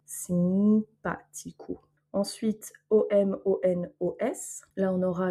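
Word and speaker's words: simpático: Donc ici, on a le A qui a un accent, donc il est tonique. Le O à la fin qui va se prononcer OU, simpatico.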